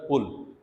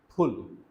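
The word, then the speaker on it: pull: For example, just like we have, so actually this word is नॉट पुल, इट इज फुल, right, it's aspirated P, समझ आ रही है ना? Pronounce जब आप करते हैं, सो इट्स नॉट पुल, इट्स फुल, it's aspirated p that we use here.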